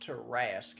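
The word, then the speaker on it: Tarrasque: It's pronounced Tarask, and Tarask. unfortunately, not a lot of people are really sure as to where they come from.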